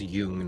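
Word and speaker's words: Jung: whether they're pronouncing uh I'm pretty sure it's Yung not y I may very well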